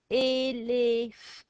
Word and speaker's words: éléphant: And these accent lines tell us how to say the E, which is what I call my Italian sound, E. It's got two of those. Elif, and I'm not going to sound the T because it's a final silent consonant.